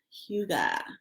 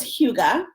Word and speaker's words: hygge: So it's hue-gah, and it is a Danish word that is basically a feeling.